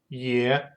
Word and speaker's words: Е: The letter ye has a sound similar to English sound in the words yet, Peter, or exit.